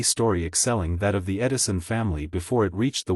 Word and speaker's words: Edison: It is a curious fact that in the Edison family the pronunciation of the name has always been with the long E sound, as it would naturally be in the Dutch language.